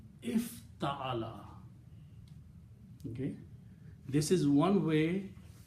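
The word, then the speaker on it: افتعل: If, now the pronunciation of this word is if ta'ala. The sound is if ta'ala. So that's how we pronounce this.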